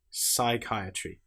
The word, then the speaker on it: psychiatry: Or how about the example of the letter P when it comes before the letter S? Psychology psalm. Here we don't pronounce the P at all. We just say pronounce the S sound. Psychology. Psychiatry. The P is completely silent.